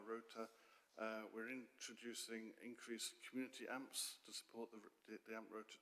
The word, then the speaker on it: AMHP: practitioner or professional, because, and it's spelled with an H, so it's AMHP, because we say AMP, but yeah, just in case people don't know out there what it means.